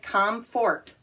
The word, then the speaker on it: comfort: go with another one c o m f o r t looks like com fort but it's not pronounced that way no no not at